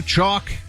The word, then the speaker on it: Choq: Chalk is spelled CHOQ.